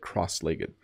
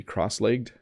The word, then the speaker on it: cross-legged: to do that again I think the American pronunciation might be cross-legged but I say legged cross-legged I by the way I asked all my colleagues all the colleagues I could find yesterday do you say cross-legged or cross-legged and most of